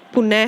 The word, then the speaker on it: पुनः: ठीक है, अब हम लोग देखते हैं विसर्ग का जब हम लोग उच्चारण करते हैं यानी उसको बोलते हैं तो उसका जो आवाज आती है उसका उच्चारण लगभग ह की तरह होता है, पुनः है।